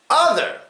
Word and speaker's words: other: Other. Other. And this one is the first syllable, the first vowel, the first letter. It gets the schwa.